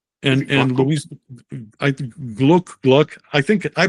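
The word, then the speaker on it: Glück: Gabriella Mistral, the Hispanic poet, Louise Glock, of course, and and Luis. I gluck. I think I pronounce it gluck. I think in German it would be glook, but uh at least it's not Glock.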